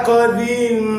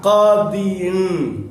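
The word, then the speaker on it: قاضٍ: Nah, gimana bacanya? Ja'a qadin, kan gitu harusnya bacanya. Ja'a qadin.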